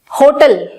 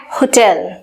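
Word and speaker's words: hotel: होटल, कुछ इस तरीके से इसको प्रोनाउंस किया जाता है और इसकी एक्चुअल प्रोनाउंसिएशन है होटल, होटल।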